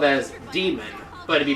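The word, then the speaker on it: Daemon: normally say it but the actual proper pronunciation for d a e m o n would be demon yeah but uh so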